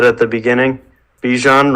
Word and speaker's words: Bijan: said at the beginning Bichon rhymes with Parmesan and he's about to